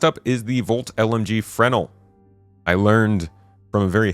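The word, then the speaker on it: Fresnel: Last up is the Volt LMG Frenel. I learned from a very helpful Redditor that the S is silent in Fresno.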